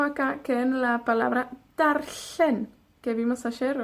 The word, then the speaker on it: darllen: que en la palabra darllen, que vimos ayer o antes de ayer. La doble L. Darllen. Para pronunciar la doble L, hacemos como una L, pero soplamos a ambos lados de la lengua.